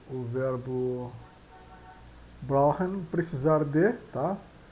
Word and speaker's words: brauchen: Então esse CH soa quase que como sendo um R, né? brauchen, Brauchen, brauchen, brauchen, tá? E o R é o R de carro.